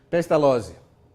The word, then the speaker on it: Pestalozzi: Lá a gente pronuncia Z de um jeito muito esquisito. Lotte. Pestalozzi.